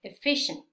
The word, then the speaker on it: efficient: Lo mismo sucede con efficient. Efficient. La acentuación va en la segunda sílaba, que es fi, y en las otras dos la vocal es un sonido schwa.